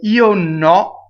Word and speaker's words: io no: So io no. Okay, so the io is closed, the no is open.